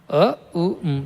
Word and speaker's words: Om: And now I will tell you that ‘OM’ is made of three things together. A-U-and Mmm. Not M. Mmm. A U Mmm.